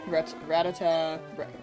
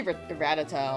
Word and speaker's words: Rattata: Uh something in route one like Ratata or Rattata or Pidgey. I used to say Ratata a lot because that was what was on four kids, but I feel like Rattata is the more common one, right?